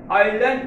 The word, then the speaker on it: island: land, land is land, এটা বানানোর জন্য কিন্তু এই উচ্চারণ, কিন্তু সঠিক উচ্চারণ হচ্ছে এস এর কোনো উচ্চারণ হবে না, আইল্যান্ড উচ্চারণ হবে আই ভাওয়েল, তাই তার আগে বসেছে